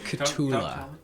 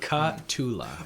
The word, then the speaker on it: Cthulhu: Cthulhu. How do you say it? Cthulhu.